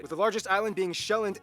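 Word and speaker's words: Sjælland: the largest island being shelland not zealand which is not to be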